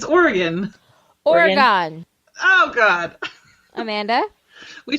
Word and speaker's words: Oregon: Oregon. Like the instrument.